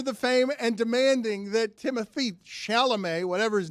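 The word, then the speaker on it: Timothée: fame and demanding that Timothy shalam whatever his name is I can't pronounce his first name it's the first name I have trouble with because it's not Timothy Timothy it's not it's timot get over yourself well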